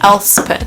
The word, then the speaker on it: Elspeth: I don't even know how to pronounce her name. Oh, it's Elspeth, apparently. Elspeth.